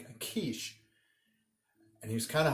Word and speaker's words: quiche: I'm like, well, that's not going to help because I'm like, it's not spelled like it sounds. It's Quiche.